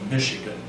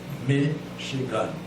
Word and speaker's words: Michigan: A good example in English would be Michigan. Michigan. That's a dactyl.